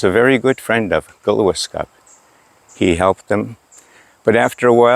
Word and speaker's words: Glooscap: But before I do, I want to mention about our person that we looked up to, Glooscap. That's a mispronunciation because it should be Glooscap, which means a good man.